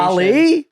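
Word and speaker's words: Dalí: say salver do Dolly it is Dolly I just looked up the pronunciation doly yes no fine see I was right it's Dolly okay so Sal do look up YouTube when they say his name um doly see Salvador Dolly it's not Dolly but it's d a a dole e is how they have the pronunciation which makes me feel like you'd be Dolly Salvador Dolly what do your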